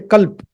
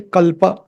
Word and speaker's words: kalpa: especially the north Indians they usually pronounce it as CP CP notp they say Culp don't don't cut short there okay you have to say kalpa so OMP we'll play